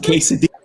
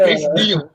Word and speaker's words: quesadilla: Go get some damn quesadilla. You got to pronounce it right. It's a quesadilla. Quesadilla.